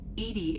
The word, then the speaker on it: EDI: why are you named edie edie is the phonetic pronunciation of e-d-i that is an acronym